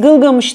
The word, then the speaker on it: Gılgamış: Kahramanın isminin Sümerce telaffuzu Bilgamiş. Biz Gılgamış derken aslında Akatça telaffuzunu söylüyoruz.